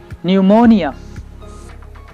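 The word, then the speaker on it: pneumonia: ये जो वर्ड्स हैं इनमें पी लेटर साइलेंट है। Psychiatrist, psychiatrist. न्यूमोनिया, न्यूमोनिया।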